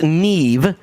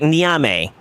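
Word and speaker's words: Niamh: Because I know it's technically pronounced Neve, but to me, it's typed like Niame. And I'm a filthy degenerate American, and I'm going to call it Niame.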